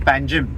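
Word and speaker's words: Panjim: we speaking English then we pronounce the name of a capital as panim when we speak our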